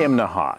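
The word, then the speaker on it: Imnaha: this morning we're in imaha now that's three syllables imaha you have to say it that way or people in town will laugh at you right behind me that's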